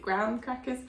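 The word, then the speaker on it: graham crackers: and then gr crackers which I think are spelled like gram crackers but I'm pretty sure you pronounce it gr crackers and Hershey's chocolate like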